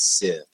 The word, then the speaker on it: Sith: thinking Star Wars, so Scythe. Yeah, I was going to say, like, hello, Darth Vader. Yeah. Well, it kind of ties in, doesn't it? Maybe it is Sith. That's my official pronunciation.